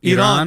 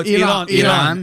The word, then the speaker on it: Iran: Iran. No, Iran. All of a sudden, Tyler started saying it the right way. I'm trying to be He's never precise. said Iran. He's never said Iran.